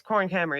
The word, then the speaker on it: Korrin Kammer: Because I'm pronouncing it Korrin Kammer. It's Korrin Kammer, yeah.